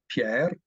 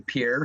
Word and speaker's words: Pierre: compare per Avenue obviously the uh correct pronunciation would be Pier or at you know if you don't want to roll the r you say Pierre Street I don't know what